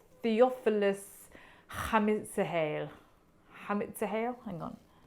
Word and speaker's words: Hatzimihail: The artist is called Theophilus Hatzimihail. Hang on. Hatzimihail. I knew I'd got some syllables around the wrong way. Hatzimihail.